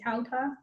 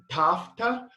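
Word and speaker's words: ταῦτα: Like I think Erasmian that would be tauta. Okay. Yeah. So basically, in modern, it would be tafta with like a F, tafta. In restored Koine, we're taught to pronounce it in between a B and a V. So tavta. And then in Erasmian, I believe it's tauta.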